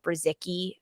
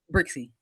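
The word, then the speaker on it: Brzykcy: product in Laurel uh brazicki right Sandra we're working on the pronunciation brixie sorry about that Lauren brixie so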